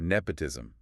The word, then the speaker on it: nepotism: The words were nepotism. Nepotism. Let's focus on the O sound. Nepotism. Short O like in hot or log and patient.